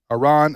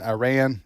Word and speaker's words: Iran: strike against Iran MH Iran Iran I've heard it pronounced both ways forever so Senator Graham has